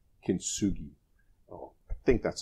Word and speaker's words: kintsugi: a Japanese technique of apparently that is called kintsugi oh I think that's how you pronounce is probably in the wrong way that